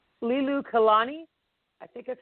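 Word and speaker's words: Liliuokalani: And in 1891, his sister, Lilu, I can't even pronounce this. I'm going to butcher this name. It's Lilu Kalani, I think that's how you say it.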